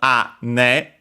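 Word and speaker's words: 姉: but it became also a ne for elder sister. Should be also accent on the first. Actually, that one unaccented, so be careful. Ane.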